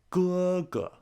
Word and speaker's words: 哥哥: First tone characters like ma and ge, when saying the full name, the tone on the second character is dropped. Mama, 哥哥.